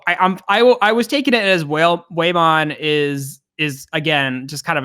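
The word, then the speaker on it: Whamon: I've always said it Waymon, and I'm pretty sure Tentomon says Waymon. There's no L. It's whale. And not whale, like way, like W-A-Y, like pronouncing it that way. Yeah, I'm adding the L in the end, but I totally just mispronounce everything. So Yeah, he's Whalemon.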